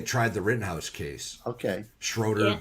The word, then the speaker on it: Schroeder: the writtenhouse case Okay Schroeder but everybody calls him Schrader and apparently it's the actual pronunciation but there's an O not an A so I can't do